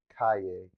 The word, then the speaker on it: Kayea: Um, so again, my name is Cay.